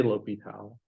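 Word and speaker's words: L'Hôpital: rule ropey towels um personal Point preference say lopital I'm saying the hospital it just sounds so wrong it's correctly pronounce um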